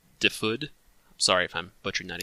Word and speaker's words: Dyfed: yes that right yeah so die fit is kind of the American butchering pronunciation of it I have a few Welsh players in cohorts who complain that I'm mispronouncing because it's a it's a real place across the pond and it's it's closer to differed sorry if I'm butchering